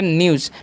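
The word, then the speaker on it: news: पढ़ते हैं ठीक है अब एन ई डब्लू एस है तो एन से हो जाएगा न और ई डब्लू एस का चान क्या हो जाएगा यू हो जाएगा तो क्या होगा न्यू और एस कान ज कर देंगे तो हो गया न्यूज ठीक है अब उसी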